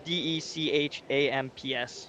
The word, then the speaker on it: Deschamps: Is it like Deschamps? Is that spelled? Oh, maybe. Yeah, it's Dechamps. Yeah. So yeah. I'm butchered that one.